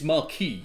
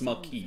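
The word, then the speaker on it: Marquis: It's marquee. The first I've heard of it. It's It's a French word pronounced marquee visit.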